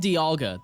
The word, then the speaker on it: Dialga: Because it's called Dialga. That's how it's pronounced.